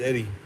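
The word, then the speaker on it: Edie: If you need to know how to spell it, it's Eddie, E-D-I-E, Eddie.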